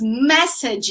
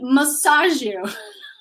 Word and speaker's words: message: message you later guys be careful with the pronunciation here is message you message you is the same as tax chill don't say massager massage is something else